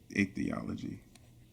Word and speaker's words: ichthyology: I'm probably gonna butcher the pronunciation. It's ichthyology.